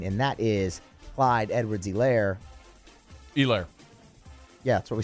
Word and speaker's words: Edwards-Helaire: It's a long E, and the emphasis on the E, not the lair.